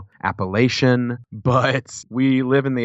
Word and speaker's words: Appalachian: was like Oh what do you call it Appalachian she's kind of looked at me like well